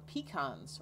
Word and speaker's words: pecan: Pecans, or pecans, depending on who you talk to, how you pronounce it, they are a native crop.